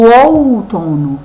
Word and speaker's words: outono: E aqui na nossa última palavra, outono, a sílaba que eu falo mais forte é o to, ou seja, ela é a sílaba mais forte.